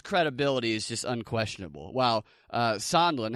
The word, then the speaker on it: Sondland: Sondland, how do you say his name again? Sondland.